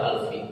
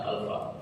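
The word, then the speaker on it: ألفِ: Dia majrur karena min itu, makanya bacanya alfi bukan alfa.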